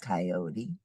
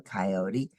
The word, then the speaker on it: coyote: coyote hundred said clever coyote that's ridiculous there can't be that many why don't you guys count and see how many there really are factoid coyote can be pronounced coyot or coyote clumsy coyote said I'll take